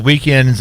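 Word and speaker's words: Weeknd: thinking about and the weekend's name is pronounced weekend but it is spelled without the e yeah the k n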